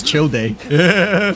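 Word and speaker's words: Childe: Time to But yeah, it's pronounced as chill day.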